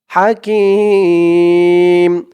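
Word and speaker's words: حكيم: হাকিম তিন আলিফ টান হাকিম আর এই হাকে হা বলতে হবে হা বড় হা আরবিতে আজিজুল হাকিম দর্শক এই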